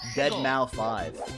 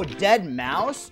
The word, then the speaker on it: Deadmau5: Beast versus Deadmau5. Oh, Deadmau5? Oh wait, really? The 5 is pronounced like an S? I didn't know that. Oh, Deadmau5?